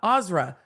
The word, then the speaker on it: Azra: Emily well thank you my name is pronounced azra thank you I think